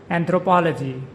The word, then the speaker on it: anthropology: Anthropology. With the stress on the third syllable, the word is pronounced anthropology.